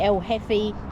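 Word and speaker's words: El Jefe: It's actually El Heffy, but spelt with a J, so El Jeffy to me, because then it's almost like Jeffers.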